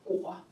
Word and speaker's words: 裹: 一个果，它的读音呢是。鸽乌窝果，就是用